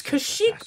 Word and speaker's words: Kashyyyk: It's Kashyyyk, bro.